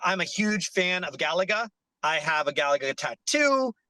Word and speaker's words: Galaga: arcade machine uh I'm a huge fan of Galaga I have a Galaga tattoo our mural artist to Galaga the reason why it's Galaga or some people pronounce it like galiga G galiga or something like that some weird